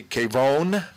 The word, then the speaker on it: Kavon: We're here with Rabbi Eli Kavon. Kavon, a couple of different ways to pronounce it. Kavon or Kavon. Yes. Kavon in English, Kavon in Hebrew.